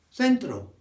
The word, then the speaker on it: centro: In Spanish, it's almost the same. Centro. Or centro. So you'll hear me say centro, because that's the Spanish I speak for the last 20 years.